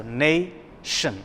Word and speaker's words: nation: look at this example the word nation yes so nai shin the word is divided into two syllables nay and shin well look at the